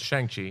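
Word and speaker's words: Shang-Chi: away the raid if they did it right shangi how do you say his name I don't even I'm saying it wrong I'm sure no it's shangi all right good so what are you guys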